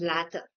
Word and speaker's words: latter: For example, let us compare the words later and latter.